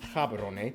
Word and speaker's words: Gaborone: If you speak Setswana, it's pronounced Gaborone.